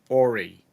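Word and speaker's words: Horry: in ay County and the H is silent it's h o r r y Orie and uh which is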